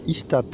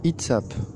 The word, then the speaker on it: ITSAP: Alors ITSAP, attention, hein, ça ne se prononce pas ISTAP. Attention, c'est ITSAP.